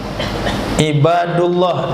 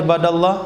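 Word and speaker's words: عِبَادَ اللّٰهِ: Ibadullah, di kita antum apa barisnya? Ibadullah, ibadallah. Ibadallah itu yang tepat.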